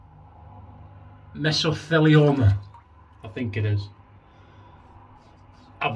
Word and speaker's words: mesothelioma: So it's Japanese, that Japanese paste, miso. Right, so that's your first bit, miso. And then Thiele, Theele, Thiele. So you've got miso, and you've got Thiele, and you're